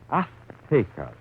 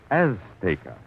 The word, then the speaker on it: Azteca: Azteca. She gave the Z a TH sound. That's Castilian Spanish. Mexican or any Spanish American would say Azteca.